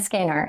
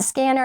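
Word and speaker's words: SCENAR: So they bought me a scanner and so now I use it. You can call it scanner, you can call it scanner. It's spelled s c n a r.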